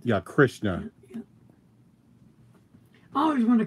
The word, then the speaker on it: Krishna: Is that how you pronounce it? Yeah, Krishna. Yeah. I always want to call it Hare Krishna.